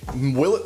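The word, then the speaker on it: Willett: you do really tease Oh a silent T the reason we're going with the will it for you yes because it's actually will it right yes it is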